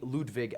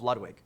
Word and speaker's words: Ludwig: his music enough that they called me Ludwig at birth. And then I bastardized it when I was a small American child and called myself Ludwig, which is not technically how you pronounce it.